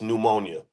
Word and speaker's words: pneumonia: don't have to spell it starts with a P it's pneumonia I know some it's